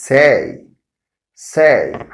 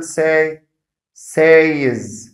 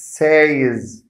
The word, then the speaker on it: says: us pronounce it as say is say is but it's not right because the sound in this word is not long a but it's short it's a short i